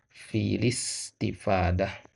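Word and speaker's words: في الاستفادة: Nah, jadi bacanya filis, ya. Filis istifadah. Ya. Nah, jadi ya dua, yang pertama alif, ya, kemudian yang keduanya hamzah itu tidak dibaca. Ya, jadi yang sisa adalah lamnya saja.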